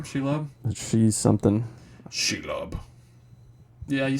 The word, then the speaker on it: Shelob: Shelob?